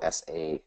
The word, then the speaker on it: Saladino: Melanie Saladino, spelled phonetically, so Saladino.